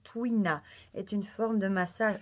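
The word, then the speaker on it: tuina: ne connais même pas ça se prononce twin à est une forme de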